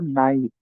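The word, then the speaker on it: knight: তো আমাদের first example হলো নাইট। তো এখানে দুইটা ওয়ার্ডের স্পেলিং এর মধ্যে খেয়াল করলে দেখবো প্রথমটার সামনে একটা কে আছে, সেকেন্ডটার সামনে কে নাই। প্রোনাউন্সিয়েশনটা দুইটাই হচ্ছে নাই, বাট দুইটার মিনিং আলাদা।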